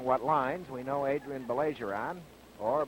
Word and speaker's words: Baillargeon: Orton operates along what lines we know Adrien beler on or Bon as he tells me the correct pronunciation is we know that Adrien will play